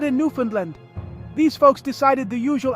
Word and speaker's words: Newfoundland: to time, weather, and how to pronounce Newfoundland. Hint, it rhymes with understand.